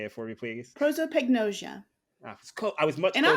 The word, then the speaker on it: prosopagnosia: can't pronounce because you heard me try to pronounce it before we started recording. But so you have prosopagnosia. How do you actually say it? Can you say it for me, please? Prosopagnosia.